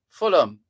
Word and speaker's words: Fulham: No, it's Fulham. Fulham. You don't go out of your way to say Denham.